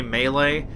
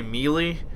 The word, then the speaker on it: melee: time this I guess you're supposed to say melee but I always tend to say melee and I think most